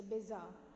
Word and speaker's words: bizarre: this word okay so bizarre say yes bizarre not pizza okay it's bizarre which